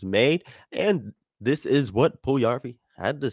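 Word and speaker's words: Puljujärvi: name is yes so there is that second you in there pool view yarn okay good uh then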